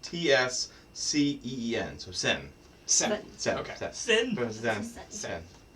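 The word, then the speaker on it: Zehn: So it's Zahn. Is that how you pronounce it? Do I have it right? I mean, okay, it's a German word for 10. So I guess technically it's pronounced T-S-C-E-E-N. So sen.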